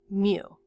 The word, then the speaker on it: mu: long left tail and it's spelled m you Mew so that's the Greek